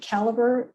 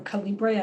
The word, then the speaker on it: Calibre: I think Calibre still is out there, or Calibre. I've heard it pronounced both ways.